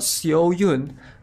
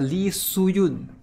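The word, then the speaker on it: Lee Soo-yoon: yoon lee soo you not seo yoon but lee soo yoon you're pronouncing it right guys su yoon i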